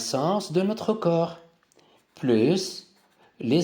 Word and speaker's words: sens: Donc les sens, c'est S-E-N-S et je prononce le S.